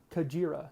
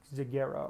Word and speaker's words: Kajira: a big disadvantage 13 kajira and yes I am saying that right I I learned that that's how we pronounce it this past week and I still can't believe it but it makes sense uh kajira still trying to train myself to to not say zagera or whatever kajira kajira kajira kajira very